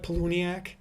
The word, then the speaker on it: Palahniuk: Maybe that's the one that I'm kind of a fan of that author, the guy that wrote the book, Chuck Palahniuk, and that's how it's pronounced.